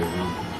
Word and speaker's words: Rama: But, you know, I think the preferred thing is Hare Rama. And that's the original Sanskrit. You know. The Ma is pronounced in Sanskrit. In the other languages, the Ma may not be pronounced indeed.